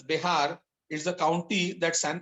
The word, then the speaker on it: Bexar: He is asked to give a special program for the inmates of the Bexar, pronounced as Behar, is the county that San Antonio is in.